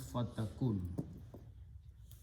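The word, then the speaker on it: فَتَكُنْ: Takunu, wow is not pronounced, so this goes away, so it becomes fatakun.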